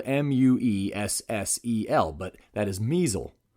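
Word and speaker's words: Muessel: South Bend Brewery while this is true I pronounce the brewery as the muscle Brewing Company whereas it is actually the measle Brewing Company so it's spelled m-u-e-s-s-e-l but that is measle not muscle these things are very important so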